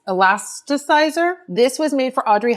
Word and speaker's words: Elasticizer: Philip Kingsley, this is the elastitizer. I always say it wrong, the elast elasticizer.